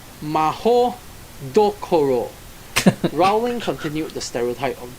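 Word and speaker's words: Mahoutokoro: the Japanese Wizarding school mutoro which is actually pronounced Maho Doro Rowling continued The Stereotype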